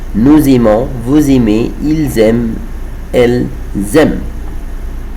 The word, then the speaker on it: aiment: Nous aimons, vous aimez, ils aiment, elles aiment. I don't say ent, ent, I don't say it all the time with the verbs with il or elle avec s.